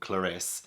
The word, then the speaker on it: Clarisse: Yeah, Clarisse. I for a second I wasn't sure how to pronounce it.